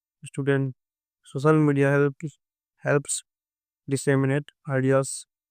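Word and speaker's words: disseminate: for citizens डिसेमिनेट डिसेनेट इसका pronunciation होता है डिसेमिनेट जिसका मतलब होता है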